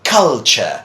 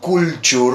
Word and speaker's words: culture: this first one well that is culture it's not cool tool or a cool doer or example like that but this is culture and this is literature